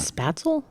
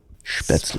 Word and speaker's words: Spätzle: So I'm Not spatzel? Spätzle. Spätzle. Spatzel. Tomato, some tomato. areas, like, It's actually pronounced Ferdinand.